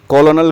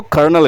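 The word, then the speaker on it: colonel: तो इनफैक्ट हम बोलते हैं कॉलोनल को कर्नल कहते हैं। कर्नल।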